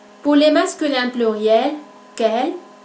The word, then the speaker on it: quel: Las 4 formas del adjetivo interrogativo se oyen igual al momento de su pronunciación. Su pronunciación es idéntica. Quel, quel, quel, quel.